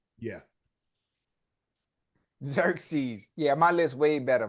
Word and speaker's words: Xerxes: dude right yeah how you say it yeah xeres Xerxes yeah Xerxes yeah my list way better my list way